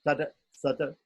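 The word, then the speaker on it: तत् सत्: So this letter T is specially pronounced in Sanskrit when it comes at the end of a word and does not have anything following it. Okay, so we say Hari Om Tata Sata, right? Tata Sata, right?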